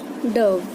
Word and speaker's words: dove: Its name rhyme with love. एक pigeon जैसा bird जिसका नाम लव से राइम करता है। This bird is dove.